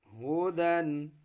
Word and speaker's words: هدى: हम वक़फ़ करेंगे तो अलिफ पढ़ेंगे, हुदन है ना, तो हुदा।